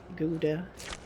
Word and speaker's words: Gouda: We made a ka cheese which Americans say gouda.